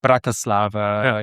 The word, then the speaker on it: Bratislava: because I've been taught my teacher was always the the first syllables like Bratislava you need always a first syllable.